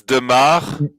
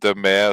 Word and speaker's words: de Maere: I mean, uh, it's demar. That's how it's pronounced in Belgium at least, but whenever I'm in France or Germany and so on, like people used to pronounce it the mayor.